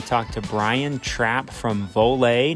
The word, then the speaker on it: Voler: to brian trapp from vole not volar vole we talk about that